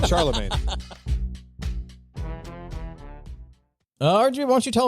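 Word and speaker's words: Chalamet: Charlemagne.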